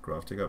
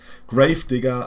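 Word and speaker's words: Gravedigger: sweet March Deck with grafer but yeah that's Grave Digger okay every time I I Mis mispronounce it again I don't know horn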